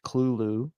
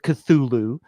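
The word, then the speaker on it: Cthulhu: like the cthulu I it's actually pronounced Kulu according to the author but everybody knows it of cthulu um no I got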